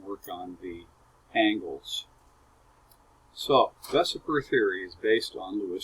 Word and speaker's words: VSEPR: result from our work for some of them vesper that's how it's pronounced assumes that the shape of a molecule